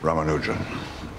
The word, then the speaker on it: Ramanujan: in New York City Welcome to Trinity Mr ramanujan am I pronouncing that properly yes sir perffect as mentor